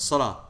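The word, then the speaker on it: صلاة: lamb third letter Alif fourth letter teller water yeah not pronounced yeah knee when you when you stop on it Salah but if you were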